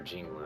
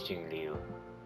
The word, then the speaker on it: Jingliu: I actually think that's how you say it, because I've been calling her Jinglu. I think it's Jingliu.